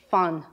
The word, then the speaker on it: fan: The word for stay, similar to leave, stay, it's fun.